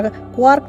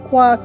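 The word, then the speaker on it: quark: क्वार्क शब्द का उच्चारण क्वार्ट की भांति करने की अपेक्षा की जाती है, परंतु शब्द के अंत में टी के स्थान पर आर के साथ, परंतु सामान्यतः इसका उच्चारण लार्क के साथ ताल मिलाकर किया जाता है।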